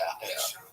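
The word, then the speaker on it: Apol: like Edward Cold, who called himself Apple, A-P-O-L, pronounced Apple.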